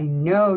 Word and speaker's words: know: And this is I know, so we're going to use a silent letter pair, KN.